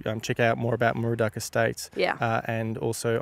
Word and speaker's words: Moorooduc: murua state and you spell that m r o d estate just think of a cow and a kangaroo and a duck and run it together estate com.au um I